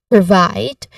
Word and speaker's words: provide: Now, the stressed word here is provide. Specifically, the stressed part is the second syllable, vide, which has, it has a diphthong sound I.